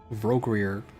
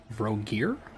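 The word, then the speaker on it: Vrogir: Voggrier. Nope, that's not how you pronounce that. Voggar, god of orcs.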